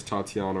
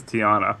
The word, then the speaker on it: Tiana: I believe that's where Princess Tatiana was. And so now Snow White is going to be over there now. So. I think it's Princess Tiana. Is it Tiana? Am I saying it wrong this whole time?